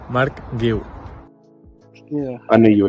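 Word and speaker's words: Marc Guiu: Mark Gil.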